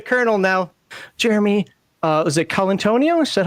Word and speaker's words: Colantonio: I saw his name, I thought that was Colonel Antonio. Oh, that's reading literacy for the win. So I'm calling him the Colonel now. Jeremy, was it Colantonio?